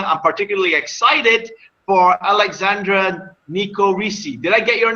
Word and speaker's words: Nicorici: So my name is Alexandra Nicorici. I Okay, know got many it. people pronounce that. It's fine. And many people tell me it's Nicorici. No, it's not Italian.